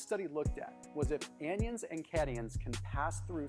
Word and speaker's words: anion: It's all good, but that's how you say it because it's anion. Like it's an anatopic ion and then catatonic ion.